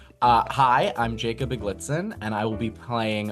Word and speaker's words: Iglitzin: I mean, I honestly don't really know how it's supposed to be pronounced, but I just say Iglitzin.